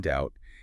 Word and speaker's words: doubt: Well, the pattern is that B is often silent after an M or before a T. So, you drop it in doubt and definitely in the adjective subtle.